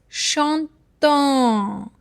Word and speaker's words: chantons: Because ONS is a sound, like O and N is a sound. On, it's a nasal sound. O and N. Whenever these two letters comes together, they give a sound of on. It's a bit nasal, huh? On. And letter S is a silent letter, so it is chantant.